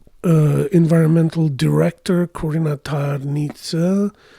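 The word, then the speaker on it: Tarnița: She's, like I said, environmental director, Corina Tarnițǎ. Although she's pronouncing it in English, Tarnita, welcomes you to the program in environmental studies at Princeton.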